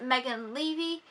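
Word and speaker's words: Megan Leavey: I felt the National on my list is Megan levy is how it's pronounced like I'm levy from 2017 or it's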